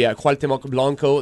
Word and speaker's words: Cuauhtémoc Blanco: I'm going to let you go ahead and pronounce his name. Yeah. No. That would be Cuauhtémoc Blanco, the famous goal scorer, the famous Monte Blanco.